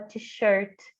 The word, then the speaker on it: t-shirt: que a gente fala t-shirts no Brasil aí uma t-shirt e uma super dica não pode camiseta né inglês a sílaba tônica Ou seja a parte mais forte da palavra é no te Richard Richard Ok verbo